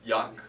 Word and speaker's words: Jaque: Jaque é J-A-K, assim, Jaque. Como você como pronuncia? Yak. Yak.